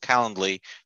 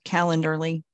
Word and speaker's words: Calendly: to my what's called Calendly. This way you can designate like an hour webinar in my calendar. I always say it wrong. I always want to put an R in there, Calendarly.